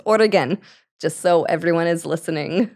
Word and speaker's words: Oregon: even in the states they can't even pronounce origan they think it's origon or something that's how I hear it all the time and it's Oregan just so everyone is